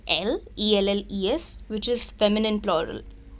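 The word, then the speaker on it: elles: if there are all the girls we say l e-l-l-e-s which is feminine plural now you will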